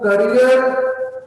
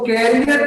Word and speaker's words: career: तो करियर को एक्सप्लोर करने से पहले वो करियर जिसको कैरियर कह के हमने खराब कर दिया है, हल्के ये प्रोनाउंस भी कैरियर नहीं होता, करियर होता है, तो हमें अंदाजा नहीं कि हम किसको एक्सप्लोर कैसे करेंगे।